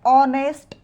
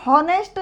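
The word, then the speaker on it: honest: Rohan is डॉट डॉट ऑनेस्ट बॉय आता इथ नेस्ट नाही म्हणायचं नेस्ट जर म्हटलं तर हा चुकीचा उच्चार आहे रॉंग प्रोनन्सिएशन आहे इथे शब्दाची सुरुवात अ ने झालेली आहे ऑनेस्ट मग जेव्हा शब्दाची सुरुवात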